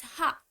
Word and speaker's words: は: This wa particle, when written in hiragana, is pronounced as ha. But when you use it as a particle, pronunciation changes a bit and we say wa.